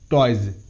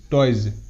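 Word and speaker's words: toys: এরপর ওয়াই এস বর্গীয় জয় হিসেবে উচ্চারিত, মানে ওয়াই এর পর যদি এস থাকে তাহলে এসের উচ্চারণ বর্গীয় জয়ের মতো হয়, যেমন এর ওয়ার্ড টয়েজ, টি ও ওয়াই এস, টয়েজ, টয়েজ।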